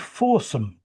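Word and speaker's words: Fawesome: It's called Forsome. Has nothing to do with what you're thinking about. Oh dear. It's spelled F A W E S O M E. So it's like awesome but with an F at the beginning.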